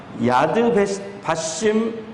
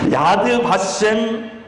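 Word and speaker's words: יד ושם: 이스라엘에 가면 제가 이스라엘 갔을 때 가장 감명 깊었던 장소가 야드 바심 발음이 잘 안 되네. 야드 바셈 국립박물관입니다.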